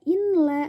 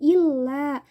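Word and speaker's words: إلا: Boleh membuang fi'il syarat jika fi'il syaratnya itu terletak setelah in yang masuk ke dalam la an-nafiyah, sehingga dibacanya itu tidak in la tetapi illa, nun sukunnya itu dibuang.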